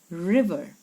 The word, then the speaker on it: river: shop near the river this word is a word that a lot of us say wrong river it has a short i sound a short e sound river okay don't say river it's a river kalu the tailor had